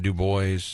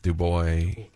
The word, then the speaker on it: Du Bois: It is Du Bois County. That's the way you pronounce it, right? It's not Du Bois, Du Bois.